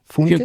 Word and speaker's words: Funke: Funke yeah yeah.